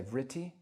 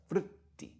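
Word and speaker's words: vṛtti: It's often you'll see it spelled V-R-I, and people will say vritti, vritti, which is fine. But closer to the Sanskrit pronunciations, there's no I after that R. It's vritti, vritti. The R is itself a vowel, vritti.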